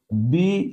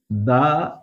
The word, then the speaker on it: the: আবার এক্ষেত্রে হবে দি অনেস্ট ম্যান এক্ষেত্রে হবে দি আওয়ার আবার এখানে হবে দা ইউটেন্সিলস কিন্তু কেন দেখো যদিও এটা ভাওয়েল দিয়ে